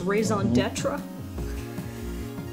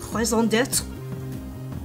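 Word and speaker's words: raison d'être: purpose in life, his raison d'etre. Wow, that's another big one that I deal with. I even said it wrong, but it's a raison d'etre, which is French for reason for being.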